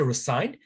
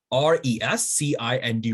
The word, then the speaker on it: rescind: No, some people say resigned, but the true pronunciation of that is resent. R-E-S-C-I-N-D, rescind.